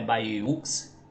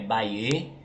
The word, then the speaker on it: Bayeux: trânsito bem mais tranquilo baer né se pronuncia desse jeito Bê não é ba ux é Baê é um município do